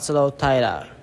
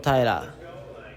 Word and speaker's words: Taira: my name is Tyra my name is Tyra right so I've